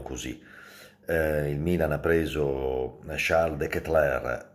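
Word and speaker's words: Charles De Ketelaere: il milan ha preso cialde che tra air con perché si pronuncia così poi ne parliamo durante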